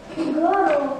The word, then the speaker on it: горох: Горох. Ударение падает на слово рог. На гласную о, безударную о запоминаем.